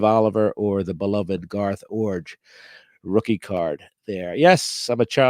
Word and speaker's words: Iorg: I can pronounce Garth Orge and name his brother Dane Orge, which is kind of a unique skill, perhaps, in this hobby. IORG Orge.